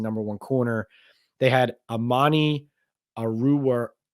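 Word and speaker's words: Amani Oruwariye: They had Amani Aruwariye, I think is how you say his name, with the Lions.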